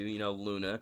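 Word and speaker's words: Loona: Luna. So again, Luna is a character from Hell of a Boss, who is the adopted daughter of Blitz. The O is silent, and she works with the others at IMP or IMP Imp.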